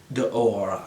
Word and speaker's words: D'Or: D'OR means the gold in French, and my wife speaks French, so she said it's like D'OR. I can't pronounce it.